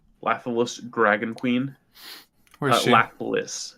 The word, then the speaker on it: Lathliss: Lathalis is how you spell it. LathlIss. LathlIss.